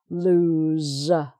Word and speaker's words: lose: do something this time don't lose your keys so that's the verb with the z sound okay and you can tell also from the spelling because the verb has a single o and the other two have double o so an escape tiger